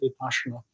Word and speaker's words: Vipassana: Whereas when you do meditation such as happens on Vipassana retreats, have you come across those? Some people pronounce it Vipassana.